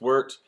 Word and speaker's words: wort: It's pronounced wort.